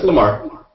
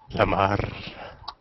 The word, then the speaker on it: Lamarr: So is it Lamarr or? No, it's Lamarr. I mean, do you, like in Arabic we pronounce the R's like we stretch it. No, it's just regular. That sounds too erotic. Lamarr.